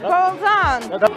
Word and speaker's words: Bolzon: Yeah, that's how it's pronounced. Bolzon.